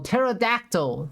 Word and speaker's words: pterodactyl: go to the bathroom the p is silent oh pterodactyl that's how you pronounce it well okay this one